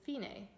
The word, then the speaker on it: Fine: play until it says Fein a which is spelled at the same as a word fine but means finish or end in Italian enjoy you